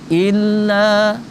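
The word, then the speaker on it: إلا: Illa agak panjang, satu alif atau dua harokat, karena dia di situ mad tabi'i atau mad asli. Mad asli itu panjangnya dua harokat itu paling enggak dua ketuk, tuk gitu.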